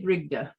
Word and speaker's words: Brigde: i pronounce it right are you male britia i say brigda frigda okay thank you